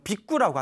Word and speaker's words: 비구: 저쪽 이제 원래 발음은 빅구라고 한다고 합니다. 빅구.